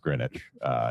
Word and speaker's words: Greenwich: First of all, it's pronounced Greenwich, even though it sounds like spinach.